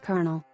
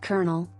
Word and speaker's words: colonel: might think it's pronounced colonel. And who could blame you? It's not so simple, however, as it's pronounced colonel, like a corn kernel.